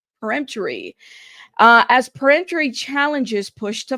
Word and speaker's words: peremptory: Preemptory. I should probably know how to say this word by now. But I want to make sure I'm pronouncing it correctly. Peremptory.